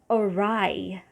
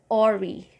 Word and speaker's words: awry: fiasco debacle next is awry awry so two syllables and the first one is schwa again and the last one is rai so i used to say i remember i used to say ori which is wrong so you say awry